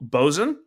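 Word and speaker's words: Boatswain: have uh I think it's called bozen spelled like boat Swain don't ask me how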